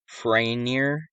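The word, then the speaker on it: Farriner: The fire started in a bakery owned by Thomas Franier. That's how you pronounce it.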